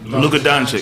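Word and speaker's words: Luka Dončić: Luka Doncic.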